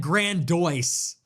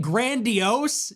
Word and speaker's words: grandiose: She said grandice. She instead of saying grandiose, she said grandice. That's not even how it's spelled.